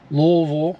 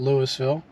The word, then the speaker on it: Louisville: last stop in Louisville looks like Louisville is how you say it in Kentucky not Louisville and looking like we